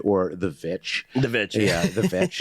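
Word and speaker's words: The VVitch: quick I just want to praise the movie The Witch or the vitch the vitch yeah the vitch it is apparently it's properly pronounced that way that movie generally fantastic it's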